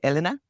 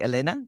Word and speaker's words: Elena: Some people say Elena. I say Elena, which is the Spanish pronunciation.